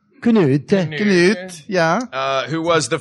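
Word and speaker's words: Cnut: His name is spelled C-N-U-T, the Great. Knut.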